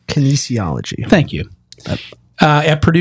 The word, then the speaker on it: Kinesiology: professor of health and Kine kology how do you say that word Kinesiology thank you uh at